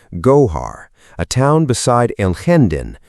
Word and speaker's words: Gójar: 4.8 and an epicenter near Gójar, pronounced Gójar, a town beside Alhendín, pronounced Al Lendín, just south of Granada city.